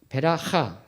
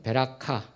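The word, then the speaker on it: בְּרָכָה: 그러니까 베라하 또는 베라카, 버라카 뭐 이렇게 발음 다 할 수 있는데요.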